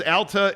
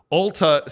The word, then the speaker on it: Alta: now uh Tom says Alta is a city school ski resort Ulta sells makeup pronounce it correctly damn damn apologize to